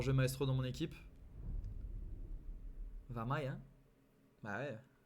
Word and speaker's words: Wamai: Après, personne dit Wamai. Je veux dire, Wamai, ça n'existe pas. C'est Vamai, obligatoirement. Ah, c'est ça de prononcer Vamai. Bah, ça se prononce, c'est un W, ça se prononce Vamai, hein?